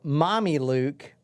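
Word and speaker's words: Mamaluk: he registered the name almost like Mommy look I'm doing something with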